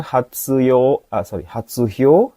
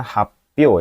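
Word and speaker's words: 発表: Jadi ini bacanya happyo ya minasan, ini kanji happyo. Hati-hati yang nomor 2 ya, sedikit tsunya ini besar jadi jangan dipilih.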